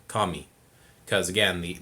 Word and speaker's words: kami: kami or kami it's kami kami because again the the a is always going to be like ah and the eyes uh